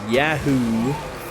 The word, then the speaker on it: Yahoo: by the way and Yahoo or Yahoo apparently I'm saying it wrong according to people Yahoo it's yahoo it's a yeah yeah oh